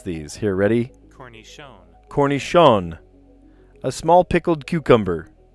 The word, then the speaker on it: cornichon: I'm going to look up each one of these because I actually have no idea how to say or pronounce these. Here, ready? Cornichon.